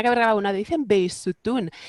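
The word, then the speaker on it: Bisotun: te haga una corrección, que es mejor pronunciarlo como Behishun. Pero es que no es así, porque yo se lo preguntaba a mis alumnos persas, digo, esa Ajá. H, porque ellos me dicen Beisutun.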